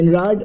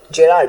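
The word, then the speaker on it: Gerard: जन जे जे जन जे जन जे जनरार्ड मैनली हॉपकिंस ने। The terms were coin bye जेनरार्ड जेरार्ड sorry I am sorry कि मैंने गलत प्रोनाउंस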